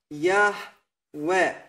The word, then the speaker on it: Yahweh: So, this is the true pronunciation of the Creator's name. These are the correct vowels with which we can write down this pronunciation, Yahweh.